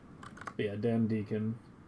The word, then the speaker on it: Deacon: But yeah, Dan Deacon. Spelled like beacon, but with a D.